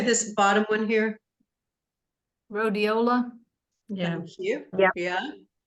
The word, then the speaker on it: Rhodiola: Rhodiola.